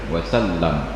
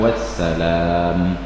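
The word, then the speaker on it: وسلم: Lamnya pun tidak panjang karena itu fi'il, wasallam bukan wassalam.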